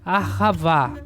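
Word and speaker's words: אהבה: Aqui um som de H, como se fosse do inglês. Bem suave. Ahavá, ahavá, tá?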